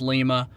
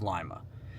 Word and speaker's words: Lima: Ohio and that is Lima Lima Ohio not pronounced Lima please do not pronounce this town Lima it is Lima and I don't really have a total game